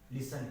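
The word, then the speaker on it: listen: जो टी है वो किन किन वर्ड्स में मतलब साइलेंट रहता है। जैसे कुछ वर्ड्स ऐसे होते हैं कि जहाँ टी क्या है साइलेंट हो जाता है, जैसे क्रिसमस,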